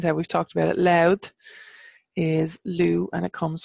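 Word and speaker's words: Lú: and it seemed that we've talked about it loud is Lou and it comes from named after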